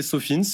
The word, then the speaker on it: SOFINS: Vous attendez avec impatience le salon, alors je sais pas comment on le prononce, Sofin ou Sofins ? On peut le prononcer Sofins parce que c'est un acronyme anglais.